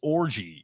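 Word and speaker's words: Orji: on to to Alex orgy and yes that is his name orgy it is not spelled with the inappropriate way of orgy if we're being if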